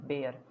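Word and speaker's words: Bayer: Germany की इकलौती एक कंपनी है जो बादशाह मानी जाती है जर्मनी की, वो है बेयर। बायर, हम जिसे बायर बेयर कुछ भी आप प्रोनाउंस कर सकते हैं।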